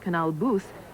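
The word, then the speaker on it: Canal Bus: amsterdam you'll love it canal bass pronounced canal boos is the sort of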